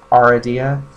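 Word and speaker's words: Aradia: time pronouncing her name I usually say aridia but it's more like aridia and this is the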